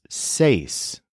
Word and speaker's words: seis: EST not EST but this new word for six does have a bend in it because of the E and I together say for example there